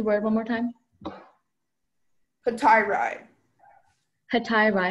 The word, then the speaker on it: hetairai: Hetairai, am I saying the word correctly? Yes, that sounds right.